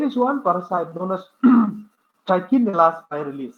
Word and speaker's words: Trichinella spiralis: There is one parasite known as Trichinella spiralis. Some people pronounce Trichinella spiralis. All of the same. I pronounce Trichinella spiralis.